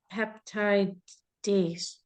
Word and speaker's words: peptidase: What is the difference between pepsin and peptidase?